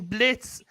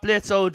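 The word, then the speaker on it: Blitzø: no so yeah then Blitz H it's not Blitz old cuz the O silent the O is silent yeah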